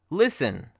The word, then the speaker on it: listen: the coming slides now the letter T is silent sometimes when it comes with an S T combination here are some examples of that fasten hustle-bustle listen which is a very